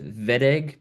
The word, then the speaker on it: Wittig: This is called the Wittig reaction, spelt Wittig, pronounced Wittig because it's a German reaction.